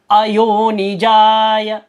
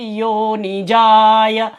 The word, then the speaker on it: अयोनिजाय: तो साइलेंट रूप में अ होता है। तो आप अ अलग से भी बोल सकते हैं और साथ में आप चाहे तो वाचस्पतये अयोनिजाय, फिर वाचस्पतये योनिजाय नमः।